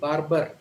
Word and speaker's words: Barbara: baba so the r in the first syllable and the r in the second syllable both are silent baba but a typical indian would say barbara so in an indian